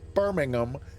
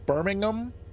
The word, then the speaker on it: Birmingham: not Birmingham like like down here in the south in the US we say Birmingham like actually ham is two syllables and I'm guessing in in in Britain Birmingham yes okay so not not even a full just a h it's not even a full syllable at the end it's just a Birmingham okay good so we're